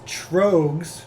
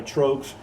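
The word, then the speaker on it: Tröegs: And the beer we've gone with is Trogs. I say it right? Yes, Trogs.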